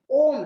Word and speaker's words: ओम: से आवाज निकालते हुए ओ को 6 गुना लंबा करें, और म बोलते समय ओठ बंद हो जाता है। अर्थात म से 6 गुना लंबा ओम बोलना होता है। ओ बोलते समय ओष्ठ गोल हो जाता है, म बोलते समय मुंह बंद हो जाता है। ये इसका सही उच्चारण है।